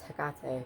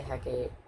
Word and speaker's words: Hecate: I know it's Hecate, but I always say Hecate.